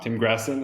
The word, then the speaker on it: Grassin: Grassin?